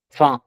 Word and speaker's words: faim: yes, faim। ठीक है, last Ah, word is faim, it's not hungry. Yes. femme, it's faim।